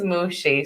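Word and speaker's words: Muschi: on the show ever her name is mushi so you got y'all can look that up it's german yeah if you can figure out how to spell it first mushy yes c-h-ah yeah m-u-s-c-h-i so yeah but it's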